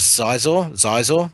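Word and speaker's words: Xizor: And I know the book cover, the main villain in that was Zizor, spelled with an X.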